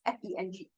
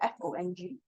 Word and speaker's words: 风: 风很大 is FENG, it's not FONG.